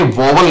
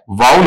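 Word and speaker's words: vowel: बच्चे ये सीखना बेटा जब इसके उच्चारण की आप बात करते हैं तो ये वल नहीं होता है बताओ क्या होता है वाउल होता है और वाउल को आप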